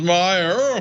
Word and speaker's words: Meijer: Mainstream media looks down their nose at him and goes like, "Oh, can you believe he doesn't know that M-I-J-E-R is pronounced Meyer?"